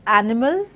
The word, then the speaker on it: animals: three syllabic words are words such as animals where we have stress unstressed unstressed pattern that is followed